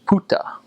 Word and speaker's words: buka: Well, that word buka, B-U-K-A, it looks like book, but it's actually pronounced puta. So the B has a P sound, and the K has a T sound.